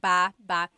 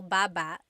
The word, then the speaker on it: baba: Baba. Then there's babba. Ba. Emphasis is on the second syllable syllable.